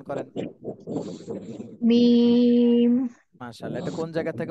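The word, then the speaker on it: ميم: দুই ঠোঁটের শুকনা অংশ থেকে মিম।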